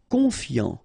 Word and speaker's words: confiant: Confiant, final T not pronounced, so I-A-N, yan, fiant, confiant.